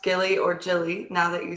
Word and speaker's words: Gili: it's pronounced Gilly or Jilly now that you said it both ways. I could be very much mispronouncing that, so I'm sorry if it's Jilly. Is it Jilly, you think? I pronounce it Gili.